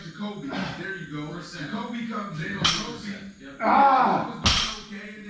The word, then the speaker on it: Jacoby: Jacoby comes in.